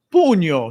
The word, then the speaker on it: pugno: Fist in Italian is Pugno, sì, ecco.